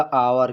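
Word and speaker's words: hour: जैसे आवर लिखा है हावर लेकिन इसको पढ़ा जाएगा आवर क्योंकि एच साइलेंट रहेगा इसमें भी एच साइलेंट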